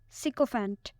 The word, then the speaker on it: sycophant: Sycophant. It has 3 syllables and the stress is on the first one.